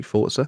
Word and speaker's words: Forza: a force ago in my life am I pronouncing it correctly Forza it is thoughts are like pizza and lots